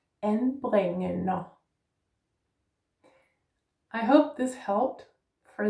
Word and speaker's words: anbringende: Let's put those together. En bring en a. Anbringende. I hope this helped for this word. Anbringende.